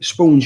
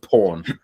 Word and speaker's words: Spawn: and they were like no no tom it's pronounced porn right oh no what it's born spawn sport spawn spawn but my friends at